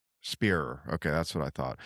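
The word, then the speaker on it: Spierer: I'm always Spearer.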